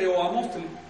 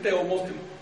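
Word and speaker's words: Teoamoxtli: Te pongo otro ejemplo, ¿te acuerdas de Teoamostli? No lo puedes pronunciar así, tienes que decir Teomostli. Tienes que hacer polisíntesis cuando esas vocales se acumulan.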